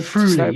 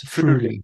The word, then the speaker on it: Friuli: You might have to help me with the pronunciation here, but Friuli, is that? Friuli, yes, Friuli.